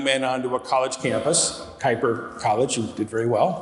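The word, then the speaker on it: Kuyper College: we bring young men onto a college campus kuiper college you did very well it's exactly how it's pronounced they live as college students so it's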